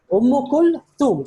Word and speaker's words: أم كلثوم: So this is the tha. So we pronounce as sa, but the actual pronunciation is tha. The tongue should be between the teeth. So this would be Umm Kulthum.